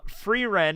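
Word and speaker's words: Frieren: Ren that's it free Ren thank you uh free Ren is how you pronounce it free Aaron # free Aon from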